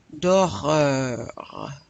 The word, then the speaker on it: d'horreur: I want to hear that R. Un film d'horreur.